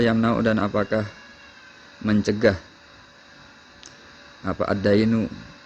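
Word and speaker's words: الدَّيْن: Wahal yamna'u dan apakah mencegah apa ad-dainu, bacanya bukan ad-dinu. Kalau ad-dinu agama.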